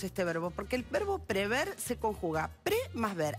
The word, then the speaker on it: prever: hay un verbo que muchas veces escuchamos mal pronunciado es prever o prever la forma correcta es prever sin la doble y con ahí vamos